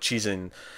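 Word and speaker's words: Cixin: you know what the the Mandarin pronunciation would that be is CI Xin yeah six analogous that is more like cheese in which Tim when I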